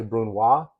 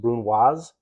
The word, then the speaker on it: brunoise: as a brunoisette and you sometimes hear brunoise mispronounce people say Bruno that's incorrect it's pronounced brunoise and this is a fine julienne which is